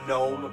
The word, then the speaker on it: gnome: why can't you hear the gnome rogue? Because of their hairy feet. Oh, silent nice. G. Those are halflings, though. Because that G is silent.